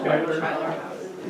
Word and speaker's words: Schuyler: Skylar, Miller, Dam. Yeah, kind of across from Schuyler House. Yeah. Is that how you say it? Yeah.